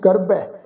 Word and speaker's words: गर्बै: रूपवंत होए नाही मोह है, प्रभ की जोत सगल घट सो है, धनवंता होए क्या को गर्बै, गर्बै बब्बे दे उपर दुलावां दा पाठ उच्चारण करना करांगे जी। गर्बै मोह सोहै गर्बै, जां